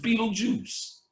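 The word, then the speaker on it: Betelgeuse: they spelled the star Beetle gist but it's pronounced Beetle Juice Beetle Juice is about they told you in the [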